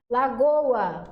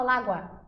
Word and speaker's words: lagoa: Lagoa, aqui ó, hiato, a gente pronuncia tanto o O quanto o A, a gente não fala lágua, certo? Fala lagoa, as duas são plenamente pronunciadas.